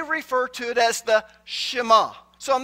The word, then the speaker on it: Shema: Now, if you grew up like me, pastors pronounced it Shema.